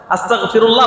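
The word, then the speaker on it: أستغفر الله: আস্তাগফিরুল্লাহ পারবো না ইনশাল্লাহ আস্তাগফিরুল্লাহ বলার সময় আসতা স্বরে আ স ত আকার গ এখানে আমরা অনেকেই আস্তাক ত আকার ক দিয়ে বলে আস্তাগফিরুল্লাহর জায়গায় অনেকেই হয়তো না জানার কারণে বা উচ্চারণে বলে আস্তাগফিরুল্লাহ বলে আস্তাগফিরুল্লাহর জায়গায় যদি কেউ আস্তাগফিরুল্লাহ বলে তো অর্থ পুরাপুরি বদলে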